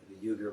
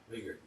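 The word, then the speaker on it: Uyghur: you familiar with the yuger mams which yuger I think yuger I think I think it's pronounced yuger Muslims in western China weer weer thank you weager eer what is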